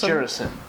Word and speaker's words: Gerasim: I think it's Gerasim.